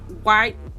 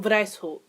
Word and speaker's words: Weishaupt: Adam White. Oh, Lord. Is that German? Wow, it is German. Wow, I should probably fucking know that. So, the founder was actually Adam Weishaupt.